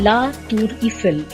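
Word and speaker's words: La Tour Eiffel: করবো আপনাদের সাথে আইফেল টাওয়ার ফরাসি ভাষায় যার উচ্চারণ লা তুর ইফেল প্যারিস শহরে অবস্থিত সুউচ্চ একটি লৌহ কাঠামো যা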